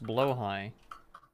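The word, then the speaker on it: Blåhaj: I don't know well it's pronounced blo High BL we just call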